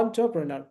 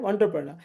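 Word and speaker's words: entrepreneur: एंटरप्रेन्योर पहला sound है अ ट प्रणा। ठीक है? एंटरप्रेन्योर। अब ये साउंड आपको ठीक से आएगा ही नहीं क्योंकि आपको स्व साउंड नहीं मालूम है।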